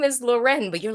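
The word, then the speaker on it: Loreen: and then laureen which she has said in numerous interviews that her name is lauren or it's loren like that's actually how you say it is loretta like she like i've i've heard so many interviews where she's like it's loren yeah but then swedes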